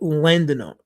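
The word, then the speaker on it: laudanum: all timey drugs like larium or is it landum landum yeah landum okay laam there you go I said it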